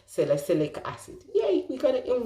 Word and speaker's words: salicylic acid: my time pronouncing uh celestic acid i had to think one minute salicylic acid now salicylic acid is